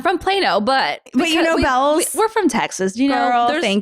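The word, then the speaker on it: Bealls: And if you know how to spell Bells if you know how to pronounce Bells properly, you know you're from South Texas, right? Everyone else has Beals. Yes. Exactly. It's Bells.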